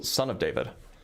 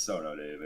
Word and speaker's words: Sono David: You also said my name wrong. It's Sono David.